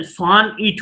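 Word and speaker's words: sonnet: तो बात होती है कि सोनेट होता क्या है, तो आपके स्क्रीन पे है सोनेट, pronounced सोनेट इज a poem of 14 lines with a fixed rhyme scheme. सोनेट ये जिसका उच्चारण स्वान इट होता है, एक निश्चित तुकांत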